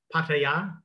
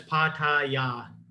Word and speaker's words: Pattaya: It's called, the Thai way to say it is Pattaya. And let's not call it Pattaya. Oh yeah. There's actually two different wrong pronunciations. One is Pattaya, and the other is Pattaya. All right, but it's Pattaya. Yeah, is how you say it, and I'm getting the tones wrong because I'm really bad at Thai tones, but the sounds are Pattaya.